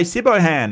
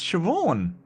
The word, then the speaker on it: Siobhan: And people say Sibohan and it's like, no, it's Siobhan. It's Siobhan.